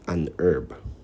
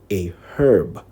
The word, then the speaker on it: herb: in different english accents in most american accents the h in herb is silent so americans usually say an herb in many british accents